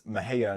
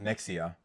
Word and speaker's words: Mexia: It's Mahia, not Mexia.